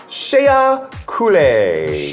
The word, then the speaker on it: Shea Coulee: Next we have Shea Coulee. Shea Coulee. Like Shea? shea butter.